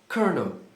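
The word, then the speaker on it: colonel: A pronúncia correta dessa palavra é kernel.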